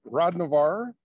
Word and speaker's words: Hrodnavar: with us tonight okay so uh hi I'm Rod Navarre is my last name but proud Navarre